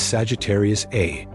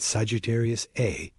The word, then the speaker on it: Sagittarius A*: This is Sagittarius A, pronounced.